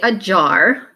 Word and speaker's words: ajar: is open so say a jar now clap the syllables a jar just like alarm the first syllable in a jar is your schwa sound where the a says uh the next word is